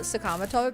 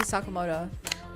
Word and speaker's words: Sakamoto: I know I shouldn't call it Sakamato, but like after pig five, I can't bring myself to say Sakamoto. I wasn't going to correct you, but yeah, I've listened to it pronounced incorrectly for so long.